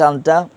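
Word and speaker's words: چاند: এরপর দেখেন চাঁদ, চাঁদ মানে চাঁদ, চাঁদ মানে চাঁদ হ্যাঁ বানান করেন তো একজনের চাঁদটা।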